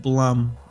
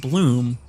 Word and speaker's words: Steve Blum: on going down yes you said it right steve blum like in blumpkin what's poppin citrus do be poppin though steve plum i've always said bloom i've always had bloom